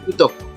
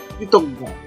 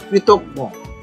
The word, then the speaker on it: কৃতজ্ঞ: দিতে পারি কোমল কৃতজ্ঞ এখানে অনেকে এটা ভুল উচ্চারণ করে অনেকে বলে কৃতজ্ঞ আসলে প্রকৃত বাক্যের সঠিক উচ্চারণ হচ্ছে কৃতজ্ঞ কৃতজ্ঞ কৃতিত্ব কৃতিত্ব কৃতিত্ব কিঞ্চিত কিঞ্চিত কাদম্বরী কাদম্বরী